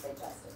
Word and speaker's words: digestive: You realize that that's pronounced digestive, right? Not on the French side.